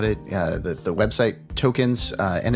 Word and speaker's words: Toekenz: more information about it uh the the website tokens uh and it's it's spelled a little differently so make sure that